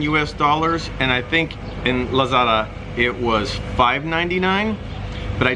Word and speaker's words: Lazada: What we have over here is pronounced Lazada, but Westerners always call it Lazada.